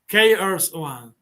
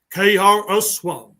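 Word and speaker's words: KRS-One: figure we saw before the what is the pronunciation Cur one krs1 kr1 krs1 krs1 now it's good my pronation peanuts glowing in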